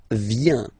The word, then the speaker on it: viens: First form, je viens, final S not pronounced, je viens.